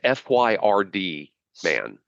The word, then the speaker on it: Friedman: Montgomery County Assistant Prosecutor Angela Friedman, I'm not sure how this is pronounced. Friedman. It's Fyrd, man.